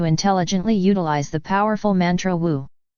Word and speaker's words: Wu: utilize the powerful Mantra Wu this Mantra is pronounced like a w and wisely imitates the howl or sound of the hurricane when blowing within the riffs of the mountains this brother could never